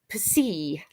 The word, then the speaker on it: psi: but it's actually pronounced per se like in the word tops at the end of the word tops it's that kind of s sound and finally the last